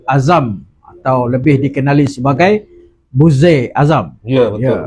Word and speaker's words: Buzze: Malam ini bersama kita adalah saudara Azam atau lebih dikenali sebagai Buzair Azam. Ya, betul. Ya, Ui, kali pertama orang pronounce nama tu betul. Oh, Kali pertama. Sebab biasa orang buzzer.